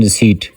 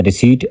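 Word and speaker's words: receipt: The silent letter in रिसीप्ट। यह आमतौर पर कुछ लोग इसको रिसेप्ट पढ़ लेते हैं। लेकिन दोस्त इसकी प्रोनंसिएशन है रिसीट आर ई सी ई आई पी टी। इसमें पी साइलेंट होता है।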